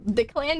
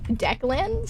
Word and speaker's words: Declan: just a little guy apparently the clan didn't tell me that his name was actually pronounced um Declan so from now on